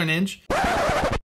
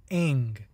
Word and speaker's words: Ng: saying that right ninj so i just realized i made a huge mistake throughout the entire video i apologize i was mispronouncing my previous round bottom walk it's actually pronounced and eng so sorry please forgive